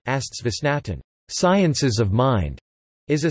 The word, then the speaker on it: Geisteswissenschaften: Geisteswissenschaften, German pronunciation, Astswissenschaften, sciences of mind, is a set of human